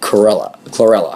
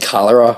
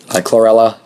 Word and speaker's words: chlorella: talked about spirulina and chlorella. I can never pronounce that one right. I always want to say cholera, which is a infectious disease and a whole different animal.